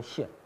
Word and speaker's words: 见: 这个古书当中经常啊讲到这个见的时候，就读成陷啊，就是表现的陷，表现出